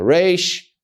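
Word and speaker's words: ר: The Resh is pronounced as an R, as an English R. The sound R.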